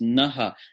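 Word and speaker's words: नः: our intellect na na-na-na H on it when on its own pronounced Naha our our mind wisdom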